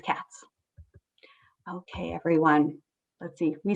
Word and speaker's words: Katz: Katz and Tush, except if she's from Winnipeg, it's pronounced Kate's. We're going to say Mrs. Katz.